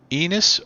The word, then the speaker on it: Ennis: Half Arabic, just say Ennis.